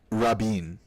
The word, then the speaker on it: Rabin: By the way, it's Yitzhak Rabin is how it's pronounced.